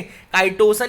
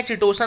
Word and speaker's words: chitosan: Okay, काइटोसन या चिटोसन आप दोनों बोल सकते हैं, जो आपको अच्छा लगे, जो बोलने में मजा आए, बस स्पेलिंग याद रखना।